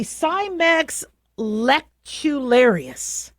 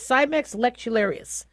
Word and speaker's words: Cimex lectularius: So, a bed bug is the Cimex lectularius. Yeah, I pronounced that correctly. That's the genus and species, Cimex lectularius.